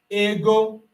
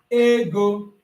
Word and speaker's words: ego: I can pronounce it as ego a I can also pronounce it as ego. Both of them are correct.